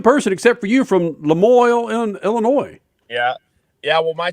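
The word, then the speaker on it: La Moille: How do you pronounce, is it Lemoyne, Illinois? How do you pronounce it? Lemoyne, Illinois, yeah. I tried to go French, and it's as damn as American as Lemoyne.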